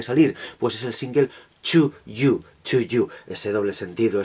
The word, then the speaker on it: 2U: Ese doble sentido, ese juego, esa homonimia de To para You, para ti, con un 2 que se pronuncia más o menos igual en el idioma de estos señores, que es el inglés.